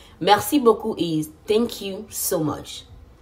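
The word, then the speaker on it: merci beaucoup: do you say thank you Mercy or Mercy Mercy Boku is thank you so much Mercy thank you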